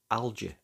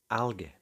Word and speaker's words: algae: In North America, you'll hear a soft G, algae, but in British English, it's frequently a hard G, algae.